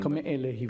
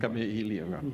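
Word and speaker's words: Kameʻeleihiwa: Lili Kala, I can't pronounce her second name. Kame'elehiwa. Kame'elehiwa.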